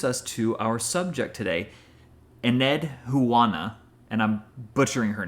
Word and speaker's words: Enheduanna: So, but let's see, you're saying it Edwana? No, Enheduanna. Enheduanna.